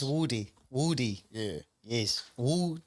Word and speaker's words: Woody: could you tell us how the name is pronounced it's Woody Woody yeah yes wood D where' that come from